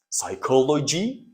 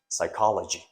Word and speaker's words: psychology: sorry this is p p is not pronounced psycho Coy and the complete or the whole word is pronounced psychology now actually it is pronounced psychology psychology psychology psychology hey